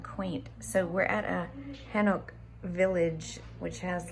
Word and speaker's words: Hanok: How do you pronounce it? Hanok.